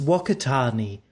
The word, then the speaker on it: Whakatane: This is Whakatane, or as the Maori people like to pronounce it, Whakatane. Personally, the Maori pronunciation makes me think of other things. Delish. But I like to pronounce it the proper way, Whakatane.